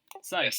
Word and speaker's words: Scythe: Site? I don't know how to pronounce it. Site, yeah. SCYTHE. Yeah, that's it. Site.